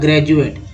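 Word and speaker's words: graduate: जैसे एक वर्ड ले लेते हैं जी आर ए डी यू ए टी ई, उच्चारण हो जाएगा ग्रेजुएट, इसमें डी को ज उच्चारण किया जाता है।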